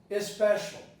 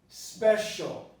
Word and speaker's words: especial: Some of my students would not produce the initial E here, which is pronounced as a neutral vowel of the type special. Is special, is special. But you can hear the vowel, is special.